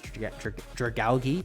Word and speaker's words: Dragalge: I used Dragalge because Tristan said to use Dragalge. How is it actually pronounced? Dragalge. Because it's like algae. So I assume it's Dragalge.